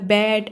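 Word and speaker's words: bed: लॉट ऐसे बहुत ही जल्दी से ओ को प्रोनाउंस कर रहे हैं। आपका है नेक्स्ट है आपका बेड। देखो यहीं पे बी या बैड ऐसे नहीं बोले, बेड बोले, बहुत ही जल्दी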